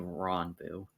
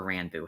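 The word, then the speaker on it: Ranboo: lawyer ends up being Ron Boo or Rambo however you prefer to pronounce it um a bunch of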